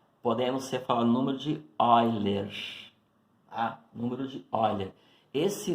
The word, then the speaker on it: Euler: Escreve-se Euler, porém pronuncia-se Euler.